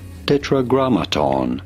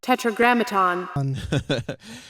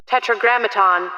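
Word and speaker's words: Tetragrammaton: God of Israel how do you go about pronouncing this word Tetra Graton tetraat Tetra Graton that guy sounds so Jewish thank you sky for for correcting me on that tetragramaton yeah so uh it's tetragramaton what they call God yeah well that so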